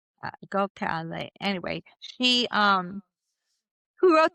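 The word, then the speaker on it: Gokhale: Um and her name is spelled G O K H A L E Go Cal.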